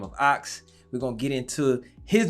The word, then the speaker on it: AVX: I like the spelling of your name, AVX, but it's pronounced Ox.